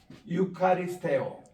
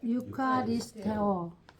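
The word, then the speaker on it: εὐχαριστέω: 근데 우리는 지금 고전 옛날 2000년대 그때 헬라 성경 기록될 때 그때 발음으로 우리들은 공부합니다. 우리 따라합시다. 유카리스테오 유카리스테오 유카리스테이테 유카리스테이테 예, 유카리스테이테 이렇게 감사라 give thanks 입니다.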